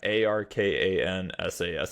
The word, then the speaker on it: Arkansas: saying Arkansas is it a an sas yeah a r k ansas it's basically like Kansas but with the AR